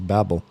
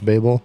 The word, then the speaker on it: Babel: well deserved I thought I thought he might be Babel I apologize folks ciles if you're mad that I said Babel and it's Babel off